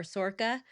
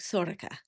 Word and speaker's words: Sorcha: whatever you want yes American readers would probably call her Sorche or Sorca like the the Scottish pronunciation like my audio book if you can listen to it on audio. Oh my goodness. She's a native GA speaker. It comes across more of like like Sorca.